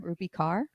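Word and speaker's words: Rupi Kaur: do you say her name rupe rupy car rupy car yeah yeah rupy car is also such a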